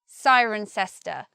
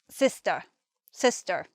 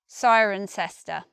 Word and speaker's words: Cirencester: ester I don't know but we say cirencester and locals of the place some of them will say Sister Sister just similar to sister I suppose that's because they don't want to say the big long word every time they mention the name of their town so they shortened it but if I were to go there I would say cirencester next we have the suffix